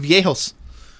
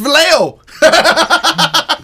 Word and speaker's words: Viejos: to your house called Viejos." I go, "How do you How do you spell that?" He He writes it all out. I said, "THAT'S VALEO." HE GOES, "NO, IT'S VIEJO."